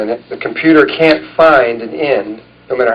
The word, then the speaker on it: phi: Uh a good example of that is the fi ratio. We're going to be talking about the fi ratio so I'll use that one. Fi is is a Greek symbol fi which is spelled phi and it's a number